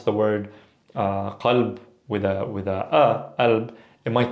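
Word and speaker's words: قلب: But in this case, qalb can be alb, it could be galb, it could be kalb even. Now be careful, if you pronounce it with a ka, the word kalb means dog, okay? Versus qalb, heart, or alb, or galb, okay?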